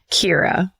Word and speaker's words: Kira: Kira. And then it says in parentheses, rhymes with Bira.